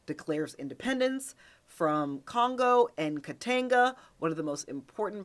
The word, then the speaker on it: Katanga: tries to fly to Katanga to have talks with Tshombe. And I just realized I was pronouncing it Katanga, but it's actually pronounced Katanga. Tang like the drink.